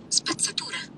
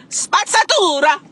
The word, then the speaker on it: spazzatura: In Italian, trash is spazzatura. Spazzatura! Spazzatura!